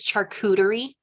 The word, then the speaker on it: charcuterie: Tonight there was going to be a charcuterie. I said it right. Did you guys know it was charcuterie, like cooties?